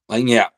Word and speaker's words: Lagniappe: Lagniappe.